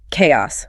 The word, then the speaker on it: chaos: Chaos.